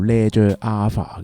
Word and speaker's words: Leger A.Fah: 呢個牌子呢，就叫做 Ledger Alpha 嘅，根據個創辦人嘅讀音。